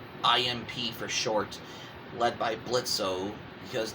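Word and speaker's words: Blitzø: for short led by blitzo because the O is silent as well as the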